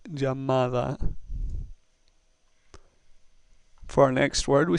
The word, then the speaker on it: llamada: The third word, llamada, ends with a vowel. We know that if a word ends with a vowel, the next to last syllable is stressed. So we have llamada.